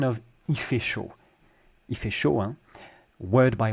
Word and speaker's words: chaud: Chaud, the D. The D is silent when it's the very last letter of a French word.